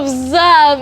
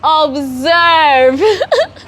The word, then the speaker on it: observe: first before I'm like it's not observe it is observe it's not that hard it is e r observe it is e R not a r observe they saying mm- observe